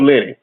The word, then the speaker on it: Lini: Walter and Lenny is spelled Lini. Walter Lenny.